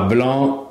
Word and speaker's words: blanc: Attention à blanc, on ne prononce pas le C, mais on l'écrit.